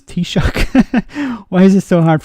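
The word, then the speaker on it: Taoiseach: Alex Shin Fain um if EU officials can pronounce t-shock why is it so hard for brexiteers on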